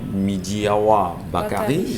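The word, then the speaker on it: Midjiyawa Bakari: le gouverneur de la région de l'extrême nord, Midiawa Bakari, ça se prononce comme ça, est allé bien sûr au chevet de ces Camerounais réfugiés au niveau du Tchad aujourd'hui.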